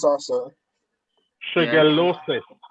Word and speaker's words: Shigellosis: Shigellosis. Right. Right. Shigellosis. All right. So with Shigella, you take off the A and you add on OSIS. Shigellosis. Shigellosis. Right. Right. So Shigella is the organism. Shigellosis is the disease.